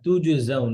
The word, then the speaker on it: تجزون: আচ্ছা, এই যে ওয়ার্ডটা তুজজাউন, এটা অনেকের উচ্চারণ করতে কষ্ট হয়। যেমন তুজ পরে আবার যা আসছে না, অনেকের তুজ হয়ে যায়।